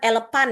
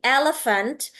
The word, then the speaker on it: elephant: Jadi bukan elepan ya, bukan elepant elephant in the room.